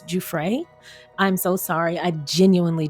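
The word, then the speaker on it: Giuffre: Now, I did not realize I have been saying her name incorrectly. It's Juay.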